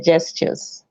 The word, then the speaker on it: gestures: careful on pronunciation um you use the word gestures it's just it's a j at the beginning so yeah because i didn't wasn't it was the right pronunciation please gestures okay gestures that's it yeah good